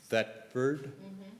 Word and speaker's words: Thetford: I was just thinking about coming to this town, if I could pronounce it correctly. Thetford?